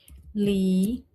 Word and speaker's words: líquido: São 3 sílabas, ó. A do é a última, a qui é a penúltima e a li a antepenúltima. Olha o líquido. O li é a nossa sílaba mais forte e é a sílaba que é denominada de antepenúltima. Então, esta palavra é uma proparoxítona.